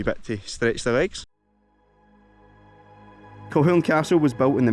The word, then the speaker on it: Kilchurn: I've always called it Kilchurn Castle, which is kind of how it looks like it's pronounced. I believe the actual pronunciation is Kilchurn Castle.